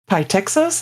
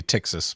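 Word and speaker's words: Ptyxis: Canonical replaced legacy tools with modern GTK 4 and libadwaita apps, including uh Pytekxis, is that how it's pronounced? I think it'd be Tekxis, but Okay, Tekxis. Yeah, fine. Whatever.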